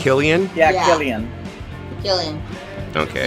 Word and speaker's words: Cillian: I mean- It's Killian. Yeah, Yeah. Cillian. Cillian. Okay. He's got beautiful eyes. I never try and pronounce it because I'm like, oh, if I Man.